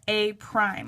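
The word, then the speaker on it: A′: Point they'll call that a prime and it looks like this it just has a little like um apostrophe above it and you pronounce that a prime okay so B starts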